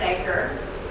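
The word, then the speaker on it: duiker: The common diker, spelled D-U-I-K-E-R, a small antelope, the name is clearly pronounced diker, uses a pair of glands under its eyes for scent markings with a tarry secretion.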